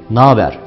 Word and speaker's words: naber: Ne haber yerine naber dememiz gerekir.